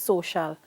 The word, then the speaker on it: social: Why it's pronounced social and you don't have any SH in there?